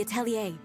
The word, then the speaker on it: atelier: jokes like, oh yeah, since it's French, it might be pronounced atelier. Every time I'm going to hear that word, I'm going to be like, oh. Freaking French and those silent R's.